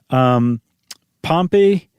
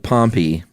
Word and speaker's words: Pompey: And that is Pompey. Is that how you pronounce it? We can't say Pompeii because that'll get confusing. Yeah, it's I always said Pompey.